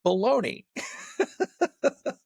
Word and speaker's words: bologna: Americans generally spell Bolognia, but pronounce it Bologna.